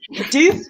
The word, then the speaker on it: Death: Yes, he was definitely one of when he was introduced, and it was like his name's Deeth, like death, but it's pronounced Deeth.